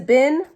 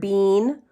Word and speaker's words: been: that word look like it says bin know bin should be bi n so clearly this is a red word some people might pronounce that word bean but I'm not one of those people and I don't know